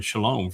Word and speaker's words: Shalom: Look at the word Shalom. You get the O in Shalom from the Wah.